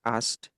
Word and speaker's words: asked: Ini bacanya asked asked. Jadi, K-nya itu hampir enggak ada sebenarnya kecuali ask doang ya. Kalau misal gini ini ask. Tapi kalau ada ED-nya K-nya dia agak hilang.